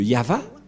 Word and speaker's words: Yahvah: invoqué le nom de Yahva, et la prononciation de Y-H, Vav, He, selon les Hébreux, c'est Yahva, et personne ne peut le